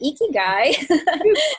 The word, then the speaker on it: ikigai: you pronounced it correctly ikigai is pronounced like with a smile iki and guy and this is a word that actually came out of okinawa and it was the the concept of ikigai was discovered because okinawans